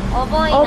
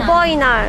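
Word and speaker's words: 어버이날: Oboinal. Agoina.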